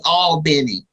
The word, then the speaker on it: Albany: near Albany Georgia so and I say it properly all Benny Georgia and as well as